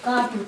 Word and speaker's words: Gobi: So this word how you pronounce is Gobi, and the other word is Taklamakan Desert.